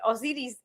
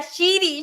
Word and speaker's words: Osiris: Es muy gracioso, mi abuelita no podía pronunciar mi nombre, o sea, no sé si muy gracioso, mi abuelita no Osiris y me decía Shiri, Shiri.